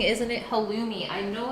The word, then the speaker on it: halloumi: Everyone's saying, isn't it halloumi?